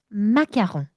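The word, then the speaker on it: macaron: 아까 우리가 L, M 이렇게 한 것처럼 얘네들이 R을 약간 이야라고 말하는 특징이 있어. 마귀야. 그래서 여러분 아까 콜라 뭐였어요? 꽃가 아니라 꼬야 이랬잖아. 똑같아요. 마공 주로 뒤에 있는 친구들을 야로 바람합니다. 마약. 그리고 이제 저를 인플루언서로 만들어 준 대망의 릴스가 있죠. 마공. 마홍 예 마크홍은 프랑스 대통령 이름이고요. 마공은 디저트 이름입니다. 그래서 발음의 차이는 마홍 마.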